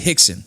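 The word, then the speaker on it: Rickson: out of the pronounce addiction it's pronounced at Hickson it's spelled Rick's in yes pronounced but in Portuguese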